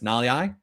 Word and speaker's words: Nalia: long time everyone said his name wrong for a long time it's nalia tipa nalia it looks like typicalea it's tough but it's nollie i he made a